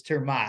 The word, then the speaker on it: Ter Maat: It's a Dutch name.